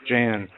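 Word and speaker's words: Jeh: do you expect from Jay Johnson you know the uh head of uh DHS Jan is it J Johnson or it's j it's it's je eh but I think he pronounces it J it doesn't yeah we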